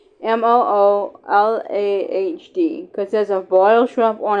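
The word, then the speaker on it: rémoulade: Remoulade is how it's spelled, but it's pronounced Remoolahd.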